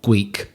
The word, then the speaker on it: Gweek: Gweek. Like Greek with a speech impediment.